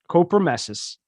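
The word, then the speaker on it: copremesis: cop copra messes c-o-r no no r c-o-p-r-e-m-e-s-i-s copromessus is the medical term for what horrific but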